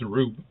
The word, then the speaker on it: R/B: Oh God, I've been calling it RB this entire time. I mean, you're not wrong, but it's pronounced Rube.